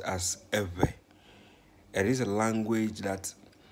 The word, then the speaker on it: Ewe: but when it comes to ghana it is pronounced as ever it is a language that is found in